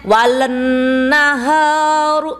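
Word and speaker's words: والنهار: Walan naharu. Begitu enggak? Tapi bacanya gimana? W naharu. Nah, itu alif lamnya ada tetapi tidak dibaca. Kenapa? Setelah alif lam persis ada huruf yang bertasydid.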